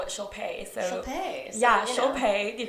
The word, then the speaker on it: Shilpa: It's so funny because people always think it sounds like Shilpa. Shilpa. They're like, oh my gosh, Shilpa. And I'm like, yeah. Well, my Instagram is my name and my last initial. Right. Shilpa.